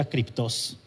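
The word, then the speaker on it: κρυπτός: creo que es acertado él me dijo que se pronunciaba escritos que significa secreto creo que todos estamos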